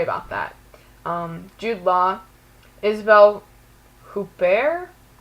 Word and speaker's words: Huppert: Isabelle Huppert. That's how I would pronounce her last name because I took French, but yeah, I'm just gonna go with that.